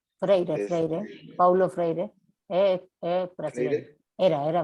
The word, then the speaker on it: Freire: ambigua, en donde dice que la crítica, para Freire, no sé si está bien pronunciado. Freire, Paulo Freire, brasileño.